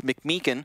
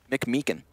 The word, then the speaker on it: McMeekin: Hunter then pinched from both directions because Alex McMeekin had already pushed all the way to the back of Marketplace. Is that how you pronounce his last name? Yeah. McMeekin? McMeekin.